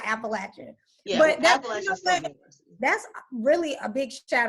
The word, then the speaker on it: Appalachian: said the whole name you got to say it right it's appalachian state university excuse women appalachian state